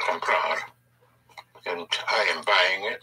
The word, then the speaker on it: comprar: The key to the whole present tense is to stress always the syllable before last of any verb. Therefore, if you want to say to buy, would be comprar. Comprar.